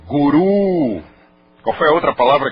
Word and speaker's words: guru: Como Guru é pronúncia inglesa. Como Jai é pronúncia inglesa. Na pronúncia original é Mudra. É Jaya. É Guru.